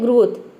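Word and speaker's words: growth: हरा अगला है ग्रोथ जी आर का हो जाएगा ग्र ओ का हो जाएगा ओ यहां पे ओ डब् ओ डब् कहीं पे भी आपको ओ डब् दिख जाए तो इसे हम क्या प्रोनाउंस करते हैं ओ प्रोनाउंस करते हैं इसके अलावा इसे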